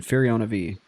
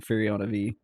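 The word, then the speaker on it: Firiona Vie: I know they did that with Lucklin, and the official pronunciation is Lucklin. Ham Kevin says he did. It's Furiona V. I will never say that. I will go to my grave saying Furiona V.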